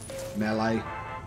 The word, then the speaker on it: melee: his head it's brilliant got to love mle weapons melee sorry shouldn't say m it's melee is the correct way to say it right okay next room